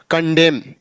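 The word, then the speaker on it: condemn: हो जाएगा कॉलम ऐसे कंडेम ऐसे डी ए एम एन तो डैम ना कि डैम या यानी एम के बाद एन साइलेंट होता है तो यह हमारा हुआ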